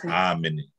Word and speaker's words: amene: The amene has a long A as well. When I go back over this, then I'll put all the macrons on top. So it's amene, amene.